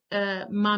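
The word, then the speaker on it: 骂: Um, and then we have the fourth tone, which is high, but it drops sharply to the bottom. So many people identify it with kind of like an angry command.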